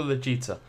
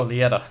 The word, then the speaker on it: Lieta: Okay, we're looking for Legita. I was told you could help me find an Angara named Lieta. Oh, Lieta. No, I'm going to keep calling her Legita. Why not? Because it rhymes with Fajita.